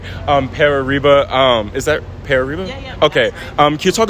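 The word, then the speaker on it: Pere Riba: hired a new coach Pierre how do you pronounce his name okay um pearba um is that pear reboot okay um can you talk a bit about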